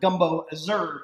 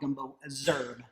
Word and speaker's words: Gumbo Z'herbes: john fulls he but leah she pronounces it gumbo azure so however leah pronounces it sorry chef but that's what i'm going with i'm going to go with gumbo azure so we're just going